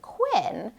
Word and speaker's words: Quinn: So if I think of my name, Quinn, a word that rhymes with Quinn would be pin or kin.